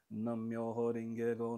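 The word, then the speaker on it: Nam-myoho-renge-kyo: Que você faz um Nam-myoho Renge-kyo, Nam-myoho Renge-kyo. Aí você une vai meio que unindo as sílabas, e fica uma coisa só.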